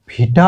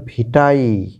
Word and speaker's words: curriculum vitae: যেটির উচ্চারণ নিয়ে মূলত কারিকুলাম আমরা হয়তো ভিটা বলি এক্সাক্টলি উচ্চারণটা ভিটাই মানে ই বা এর মাঝের একটা সাউন্ড আসবে ভিটাই কারিকুলাম ভিটাই আর এটা কিন্তু